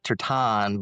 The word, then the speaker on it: Tertan: And today we are joined by John Tersen who actually said we should pronounce it Tertan, but uh we're going to go the more English.